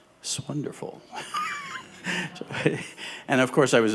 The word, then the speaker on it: 'S Wonderful: and said, "Well, Mark, it's actually pronounced swonderful."